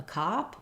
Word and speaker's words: cop: the schwa vowel consistent and then not a cop or my father's a cop keeping that ah vowel consistent between the two because you might have